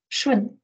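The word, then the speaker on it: 順: relates to the next word um which is pronounced as shwin and often translated as agreeable or harmonious you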